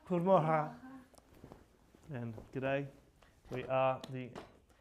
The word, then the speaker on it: Goedemorgen: Goedemorgen. Goedemorgen.